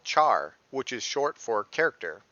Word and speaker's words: char: use with variables called Char which is short for character however some people pronounce it as care because of character this video is very